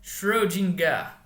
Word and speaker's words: Schrödinger: Então o nome dele é Schrödinger. Então, como ele também é alemão, o final é R, assim como Euler se fala como um som de A. Então a gente fala Schrödinger.